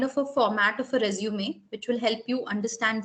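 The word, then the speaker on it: résumé: pronunciation in French as resume. So it is not resume, it's resume. So the E becomes a in pronunciation, right?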